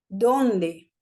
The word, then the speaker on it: dónde: ¿Dónde? Con tilde en la sílaba dom.